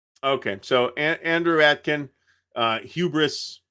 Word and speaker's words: hubris: so Andrew Atkin uh Hubris in English and uh Bri and or ubri in French um but morgon is